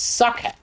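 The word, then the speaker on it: Sokka: it's iro it's Avatar it's a and it's Sucka not so like what a you got to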